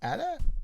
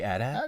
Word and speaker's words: AT-AT: How do you pronounce that? AT-AT. You say AT-AT?